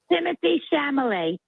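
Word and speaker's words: Timothée Chalamet: Timothy Chalamet.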